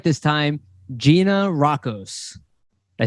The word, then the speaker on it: Gianarakos: I'm going to say it right this time, Gianarakos.